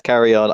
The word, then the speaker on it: Carrion: about yeah um so what we have is carry on i think that's how you pronounce it yes carry on i feel like we should explain a little